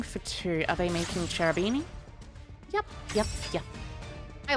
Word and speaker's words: Cherubini: two are they making charabini yep yep yeah i like cherubini i like pronouncing it charabini by the way as well because you think of it as a cherub that's also a beanie i mean you could